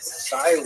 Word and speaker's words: Cyrene: I looked it up and I've heard it pronounced as Cyrene in English. In Greek, it would have been something like Kurene. So I'm probably going to say Kurene, and I'll probably be wrong, but this wouldn't be the first time.